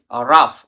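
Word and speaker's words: rough: for example দেখো তোমরা আর ও ইউ জি এইচ রাফ এখানে আকার ফ উচ্চারণ হচ্ছে রাফ সেরকমভাবে টাফ এনাফ এনাফ রাফেন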